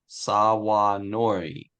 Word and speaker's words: sawanori: Sawanori. Thank you. That's, I think, the more accurate pronunciation from my son-in-law, who is Japanese.